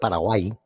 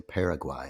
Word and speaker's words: Paraguay: So speaking of Paraguay, Jeremy You had to do that. Well, that's the proper pronunciation. He gets angry if you say Paraguay like you just did.